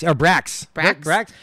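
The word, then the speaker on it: Brach's: Brox or Brax. Brax? Brax. It's spelled B-R-A-C-H-S.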